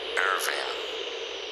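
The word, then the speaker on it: Ervin: A different male voice answers, "Irving." He pronounces it as one does in Hungarian or in German, with the E as in extraordinary and not as in earth.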